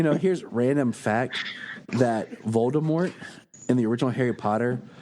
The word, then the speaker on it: Voldemort: here's random fact that Voldemort in the original Harry Potter like books when she wrote it was supposed to be more along the line of a silent T like a French pronunciation but then the first